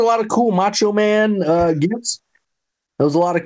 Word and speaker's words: GIF: I'm on team GIF. GIF. Got it. GIF. A hard G, yeah.